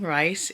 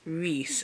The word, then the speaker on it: Reese: name I Googled it I've been saying rice it's Reese apparently whoops so yeah I